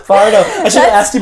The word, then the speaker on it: Fajardo: Fajardo. Fajardo.